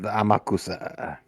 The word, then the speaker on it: Amakusa: It's pronounced Amakusa. You have to say it French.